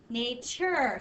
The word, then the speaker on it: nature: it sounds like chip it's really a t u r e nature so it sounds like chip but it's not spelled it's spelled with a t-u-r-e but that's a makes a long a sound nature if you just